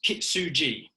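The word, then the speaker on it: 金継ぎ: There's an ancient Japanese ritual, if we want to call it, or even just a process, and it's pronounced kitsuji, and it's known as the Japanese art of golden repair.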